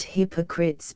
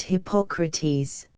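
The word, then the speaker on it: Hippocrates: the name of which is not Hypocrites but hypocrates the spelling is nearly the same but the pronunciation is different after the name of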